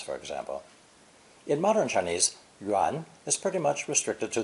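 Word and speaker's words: 员: obviously meaning a circle or anything round it's pronounced second term yuan yuan a circle implies completeness so juan was used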